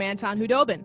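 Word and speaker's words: Khudobin: It came from Anton Hudobin. The K is silent.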